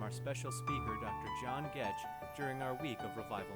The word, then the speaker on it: Goetsch: to pronounce our name Goetsch. The German pronunciation of my name is Goetsch. The G was a J sound, the OE was an A sound.